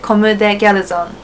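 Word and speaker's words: Comme des Garçons: Comme Des Garcons.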